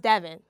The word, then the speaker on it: Devyn: My first name means poet and divine, but it's not pronounced as divine. It's pronounced Devon.